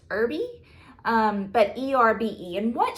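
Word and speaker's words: Erbe: and her name is janet e-r-b-e i think it's pronounced irby um but e-r-b-e and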